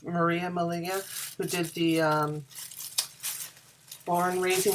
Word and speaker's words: Maria: me fiber challenge then remember rhymes with malia rhymes with maria molina who did the